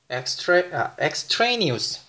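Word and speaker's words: extraneous: 엑스트레니우스. 엑스트레니우스라고 읽힙니다.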